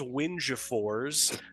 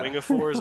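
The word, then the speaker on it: Wingefors: So, correct me on the pronunciation here. Lars Windfors is stepping. But yeah, Wingapors.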